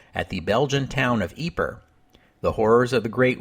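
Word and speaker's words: Ieper: name of this town I mostly use the pronunciation eeper back in episode 92 that's the Flemish name for the town and since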